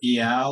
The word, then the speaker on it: Eyal: There's there's this guy named Nir Eyal or Eyal, I'm not sure if I pronounce his name right, it's Eyal.